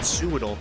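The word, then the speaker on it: Swadloon: Hello, Suadel. You got to call it Suadol cuz it's like it's so it's like a sewing Pokemon.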